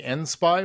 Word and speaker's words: ENSPI: So do you call your company ENSPI when you say it? Is that how you say it? Yes.